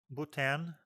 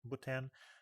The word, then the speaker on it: Bhutan: It was the first ever trip to Bhutan. I think H is silent.